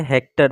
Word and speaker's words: Hechter: गलत दिया हुआ है, हैचर नहीं है, हेक्टर थे, ठीक है ना, HECHTER,